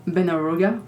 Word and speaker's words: Benharougo: Our other guest is Beneruga. How did I do? Great. Great. All right. Thank you very much. You pronounce it just to make sure we're we're right. Benaruga.